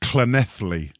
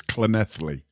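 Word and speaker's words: Llanelli: When you see a double L in the Welsh language, it's pronounced with a C. It's a silent C, so it's Clenethly.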